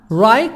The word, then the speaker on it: right: right now right now until now right GH silent right now and now